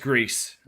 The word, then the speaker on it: Gris: pronounced Greece.